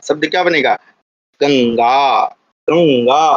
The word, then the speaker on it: गंगा: गंगा उच्चारण भी ध्यान रखिएगा, ज्ञा करना है, गंगा। कई लोग गंगा बोल देते हैं, है ना, वो अशुद्ध उच्चारण।